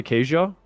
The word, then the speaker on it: queijo: Pau de queijo?